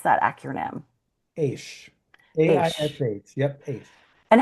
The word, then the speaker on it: AISH: Co-director of the Academy for International School Heads, which how is it that you pronounce that acronym? AISH.